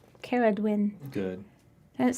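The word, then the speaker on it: Ceridwen: we did but anyway somebody told me i said i said it wrong so apparently it's like i just think i better say it like princess bride all the time cara dwin good does it sound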